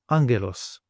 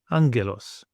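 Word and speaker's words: άγγελος: And then we want an NG sound as in the word singer. And the Greek example, angelos, angelos.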